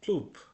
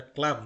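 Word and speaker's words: Klub: ওকে, এর পরবর্তী পাতাতে রয়েছে নয় ইন ক্লুব। এটা ক্লাব না, ক্লুব মানে নয় ইন ক্লুব।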